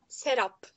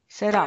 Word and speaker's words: Serap: the right pronunciation of your name? Serap. Serap.